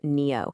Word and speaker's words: NIO: Today we're going to talk about something really clever from the electric vehicle maker Neo. And that's pronounced NEO, by the way.